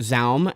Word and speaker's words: ZA/UM: This was released by ZA/Alm, or just Zaum, as it's more commonly pronounced online.